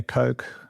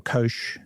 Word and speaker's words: Koch: The four astronauts, Reid Wiseman, Victor Glover, Christina Koch or Kosh, depending on how you want to pronounce it, Jeremy Hansen, have become